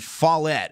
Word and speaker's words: Follett: Division 2, and this state championship game between Strom and Follett is how you say that.